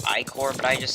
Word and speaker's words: Ichor: I know it's pronounced Icor, but I just say Ichor kind of to annoy people, and just because that's how I've always pronounced it. Obviously, I do know it's Icor, but I do call it Ichor.